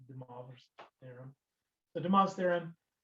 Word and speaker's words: De Moivre: I know it's spelled De Moivre's theorem, but he was a French mathematician, so it's De Moivre's theorem.